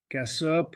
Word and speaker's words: Kossop: Votre nom de famille se prononce-t-il Cassoup ? Cassop ? Cassop.